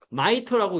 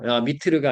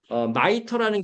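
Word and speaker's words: MITRE: 마이터라고 읽어요. 미트르가 아니고. 마이터라는 기관이고요.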